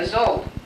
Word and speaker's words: Szold: particular study circle participants Henrietta Szold maybe because her name rhymes with old you are and some